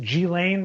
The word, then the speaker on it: Ghislaine: Is it Ghislaine Maxwell? Am I getting it right? Yeah, Ghislaine. Go ahead. Ghislaine.